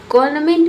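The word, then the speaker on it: government: एन जो है यह साइलेंट है बट स्टिल लेकिन फिर भी रिटन यानी कि लिखा जाता है। कॉर्नमेंट में एन भले ही बोला ना जाए लेकिन लिखा जरूर जाता है। ठीक है? बहुत सारे लोग जो है एन को प्रोनाउंस नहीं करते हैं। एन को साइलेंट रखते हैं।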